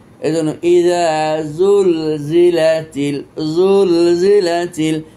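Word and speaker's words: زُلْزِلَتِ: এই জন্য হারফু জাই কখনো ঝড় উচ্চারণ হবে না, ঝ বললে হারফু জাই বিকৃত হবে। এই জন্য ইজা জুল জিলাতিল, জুল জিলাতিল।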